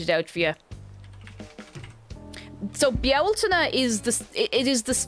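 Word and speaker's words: Bealtaine: Beltane, I'm assuming not pronounced Beltane. You see, the spelling Beltane is a bit... I'm actually going to write it out for you. So Bialtana is this...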